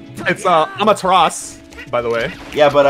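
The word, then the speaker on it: Amaterasu: Amada Rasu picks up some ham and she's like, yo, Pog. It's Amateras, by the way.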